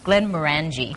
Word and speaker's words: Glenmorangie: happen it sounds so much better that way glenn maranji single malt scotch just show your receipt at